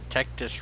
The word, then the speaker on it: Tectus: That's because Tectus rhymes with tetanus, and tetanus is a horrible disease.